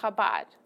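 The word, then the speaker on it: Chabad: are from the habad you say habad or habad however you could pronounce it but officially kabad yes that it's that Jewish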